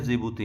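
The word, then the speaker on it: Djibouti: D silent है जिबूती में।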